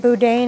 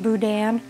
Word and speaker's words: boudin: the boudin and if i call it boudin it's because what i used to call it it's supposed to it is pronounced boudin and i'll go ahead and break that up